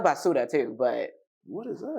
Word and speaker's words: basura: I like basura too, but what is that? That's Spanish. That means trash. Like basura. Basura. Basura. Oh, I thought it was basura.